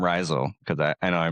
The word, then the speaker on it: Rhizal: One of the downsides, but it actually comes from the word mycorrhizal, which in that context,